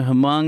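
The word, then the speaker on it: Hmong: hongs okay you know hamong is like this if you saw Grand Torino that movie with Clint Eastwood I think the H is silent I think called yeah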